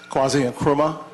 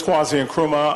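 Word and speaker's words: Kwazi Nkrumah: you called my name because it's often mispronounced quasi and chroma uh we didn't but why don't you thank you my name is kwazian kruma i am uh the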